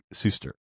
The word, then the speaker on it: Suster: The AI told me definitively when I asked that your name is pronounced Suster, and it gave me a little pronunciation guide, big S-U-S-S. And I thought to myself, that seems like kind of a shifty AI there. I'm going to go check myself. So I know it's Mark Suster.